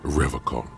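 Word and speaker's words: Revachol: stay strong for reol he pronounces Revol with a hard K un like other people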